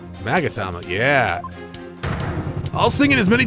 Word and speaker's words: magatama: The Box by opening it without using the mama key wait what did you just say is that what it's called magatama yeah all singing is many times you have